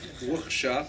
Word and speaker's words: Wuhsha: The first H is a guttural. As Billy Crystal says, Yiddish is basically German with phlegm, so you just have to pronounce Wuhsha, like the Yiddish ches, as it were.